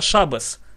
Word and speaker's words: Шаббат: это аббревиатура слова Шаббат но мы европейские евреи произносим не Шаббат А шабес так как же у